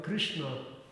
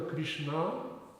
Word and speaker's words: Krishna: And in Krishna, it's never Krishna, but it's Krishna. Yeah. So ri is guru because It's Sha and Na. So Krishna, not Krishna.